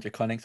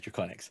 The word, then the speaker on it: Draconiques: For any French people in chat, yes, I know it's pronounced Draconique, but I'm not French, so it's Draconics.